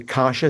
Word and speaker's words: Kashi: You say Kasha is how we pronounce it.